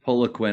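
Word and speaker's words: Poliquin: how do you say his last name it's Paula Queen I I thought I think in the uh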